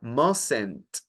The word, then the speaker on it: mustn't: Ahora, mustn't termina en T. Esa T no la voy a pronunciar junto a mustn't, sino junto a open. Entonces, open va a sonar como topen.